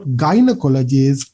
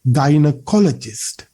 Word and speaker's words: gynecologist: 19 weeks okay so look at the correct pronunciation not gynecologist it should be gynecologist gynecologist we tend to stress the first syllable and we say gynecologist it's not that much